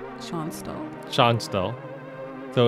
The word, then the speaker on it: Schonstal: person's name that's how you say that name sean stahl sean's though so it's a tactical match three